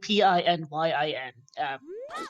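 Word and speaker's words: pinyin: keyboard is is basic on pronunciation so pinion is spelled p i n y i n pin Yin it's not exactly hard yeah you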